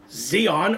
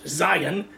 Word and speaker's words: Zion: to where Chicago to a city called Zeon or they're pronounced in English Zion city founded by name